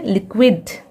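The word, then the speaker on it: liquid: फिर यहाँ पे देखिए लिक्विड, विद, वी साउंड आ रहा है, ठीक है, वी साउंड।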